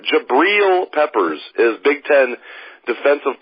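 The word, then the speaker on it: Jabrill: funny they just are jabel peppers I'm sorry jabriel peppers I I'll finally pronounce his name right jabriel Peppers is Big 10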